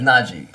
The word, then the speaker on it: Najee: It's like Nagy, but it's Najee.